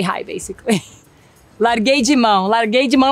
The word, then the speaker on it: Larguei mão: Larguei de mão. Larguei de mão, like I gave up. Like, you know what? It's not working out. I gave up. Larguei de mão. That's how you pronounce it.